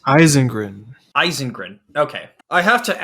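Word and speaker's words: Ysengrin: How do you pronounce his name again? It's Eisengrin.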